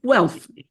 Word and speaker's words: Guelph: Gilbert is a professor emeritus at the University of, I hope I'm pronouncing this right, Guelph, where he taught... Guelph. Oh, okay, Guelph.